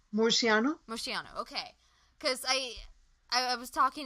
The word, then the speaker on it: Murciano: How do you pronounce his last name? Murciano.